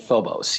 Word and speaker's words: Phobos: to turn our attention here and talk about Phobos is that how you say it you do pronounce it Phobos yes which is a satellite or a moon